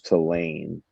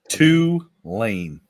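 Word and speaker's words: Tulane: I'm on Navy verse toan there he goes again I said it wrong no you said it wrong T lane two lane two lane two lanes two lanes um I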